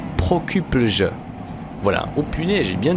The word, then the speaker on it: Prokuplje: Ah oui, alors comment le prononcer? Prokuplj. Voilà. Oh punaise, j'ai bien dit quand même. Hein. Enfin, je pense. Prokuplje.